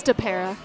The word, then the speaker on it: Stopera: It's Stopera.